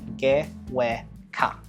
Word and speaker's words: GWK: Gewe Ka, which is how it's said by the Indonesians, or as you might call it, the GWK Cultural Park, located on the Bukit up in Jimbaran.